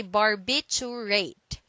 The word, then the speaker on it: barbiturate: first one is barbiturate don't say bar you wait do say Barbie to rate it is a noun and it means any of a class of sedative and sleep inducing drugs derived from barbiturate acid okay so don't forget this word contains four syllables and it says bar